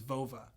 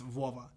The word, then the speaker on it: Vova: mine so my name my nickname when i was growing up was vova but pronounced in with a russian accent vuova and then my friend's